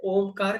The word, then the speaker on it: ओम: तो जैसे ही हम ओ शुरू करेंगे, जब तक ओ चलता है तब तक आपके कंधे और छाती रिलैक्स होंगे। और जैसे ही पेट अंदर जाना शुरू होता है, वहां से म शुरू कर देंगे, तो ऑलमोस्ट सिमिलियर होगा।